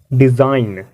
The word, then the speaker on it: design: एन से पहले वाला जी, इसे प्रोनाउंस नहीं करेंगे, इसे क्या कहेंगे? डिज़ाइन, इसे क्या कहेंगे, डिज़ाइन।